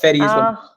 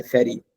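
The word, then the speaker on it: Fadi: my name is is it's f a d it's fed it's Arabic but fedy call me because no one can pronounce fedy here so they just say fetty and I'm like yeah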